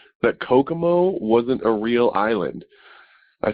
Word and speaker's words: Kokomo: clock way down to coca mo you're adding an extra syllable because they did in the thing but kokomo is is what it is and just when you